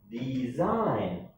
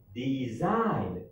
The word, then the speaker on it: design: c okay number four design design do you have a g no so the g is silent number one number five